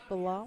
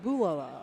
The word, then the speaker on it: Bulala: Rick Balala? Oops, I hit the wrong button. Yeah, I believe that's how it's pronounced. Bulala. Actually, I got the pronunciation. Oh, Bulala. Okay. Bulala. Okay.